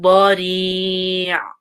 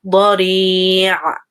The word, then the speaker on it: ضريع: Please try to make the ayn sound. Don't say bari', but try to make the ayn full. Bari'. And don't make it too short either. Don't say bari'. Even though the ayn is there, try to like give time to it.